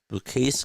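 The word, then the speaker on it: Bukauskas: the box he's still AOK Jak JB bu bukus is how you say his name he's gonna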